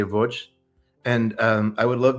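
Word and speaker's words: Łódź: Uh and the name of the city is uh Voj. It's it's spelled like to Americans it looks like LODZ but they say Voj.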